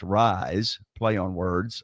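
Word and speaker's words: RYZE: it's amazing and it's called r y Ze pronounced rise play on words R YZ no I don't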